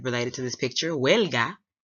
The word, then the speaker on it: huelga: Other word I said related to this picture, huelga, rhyming with Helga, like Helga Pataki.